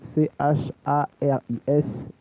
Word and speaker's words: Charis: Charis, C-H-A-R-I-S, tout collé, Charis, C-H-A-R-I-S, comme le rappeur, ça se prononce.